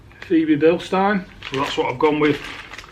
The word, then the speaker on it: Febi Bilstein: but I think Nicole I think it's pronounced CV build star that's what I've gone